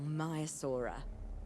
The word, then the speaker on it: Maiasaura: Now that you can exert more control over embryonic hormones, it's time to synthesize your first male Maiasaura. Just think, Maiasaura. generations of That's how you dinosaurs pronounce it.